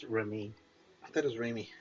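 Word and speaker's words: Raimi: I had the answer until someone Sam Ramy does uh Evil Dead, right? Mhm. Yes. Uh, god damn it. Where'd it go? Uh Sam, it's pronounced Remy.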